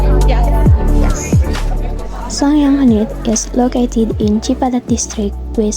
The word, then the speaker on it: Sanghyang Kenit: The pronounce is Sanghyang Kenit.